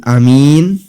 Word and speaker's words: Aamiin: Pertama adalah dibaca dengan dipanjangkan kata A sehingga menjadi A dua harokat. Dipanjangkan dua harokat. Sedangkan minnya dibaca mad arid lis sukun, bisa 6 harokat atau 5 harokat atau 4 harokat. Yang kedua, huruf A dibaca pendek sehingga menjadi amin, sedangkan minnya tetap panjang.